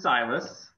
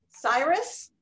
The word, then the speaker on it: Silas: This is Silas. Cyrus? Silas. Come here. Now, be nice. How do we even spell that?